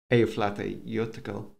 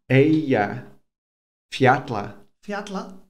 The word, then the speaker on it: Eyjafjallajökull: ago when I'd heard Eyjafjallajökull. Eyja. Say it with me. I'm going to teach you all my mistakes. Right, so Eyja. Eyjafjallajökull. Eyjafjallajökull. See the way you're saying flatla, it's not, it's fiatla.